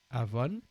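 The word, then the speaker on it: עָוֹן: Voilà, Avon. On voit un aïn, et c'est la lettre B qui se prononce V, et le N. Avon, qui signifie iniquité.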